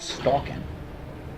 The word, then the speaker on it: Stalkin: actually spell that out, stalkin. It's like stalking without the G, Stalkin.